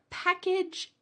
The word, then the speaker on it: package: The first one, package, sounds like pack. And then we have a weird vowel. That a is actually going to sound like a short i.